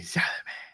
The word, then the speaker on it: Chalamet: We're walking on the Chalamet, because that's how you got to pronounce his name. Timothy Chalamet.